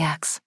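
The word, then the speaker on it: axé: As an acknowledgement of something powerfully true or beautiful that touched me deeply, axe. In Halegricity, this is the same word used as ashe, same pronunciation, same Yoruba root, same theological meaning.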